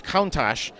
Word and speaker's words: Countach: there's theories there but according to wikipedia it's countach and what a countach